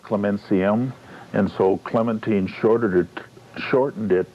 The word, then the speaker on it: Clementium: She was baptized Clementium, Latin, pronounced Clementium, and so Clementine shortened it to Clemence, and that's what this is, Clemence.